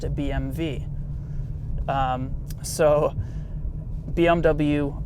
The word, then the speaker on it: BMW: well oh my god if the W in German is pronounced as a V well then BMW is not actually pronounced BMW in Germany it's actually pronounced a BM v so BMW Welt you